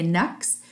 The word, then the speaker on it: Canucks: Canucks to the Knux is a slang or half a term for how to say the vancouver canucks they say knucks so here's his the